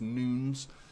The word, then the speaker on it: Nunes: Silva for example uh Nunez or Nunes I've been told is how to pronounce his name not Nunes it's noons I'm never going to call